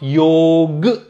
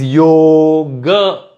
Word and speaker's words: yoga: technical but for now this would be pronounced yog it is not yog it is yoga it has to end with the a but it is also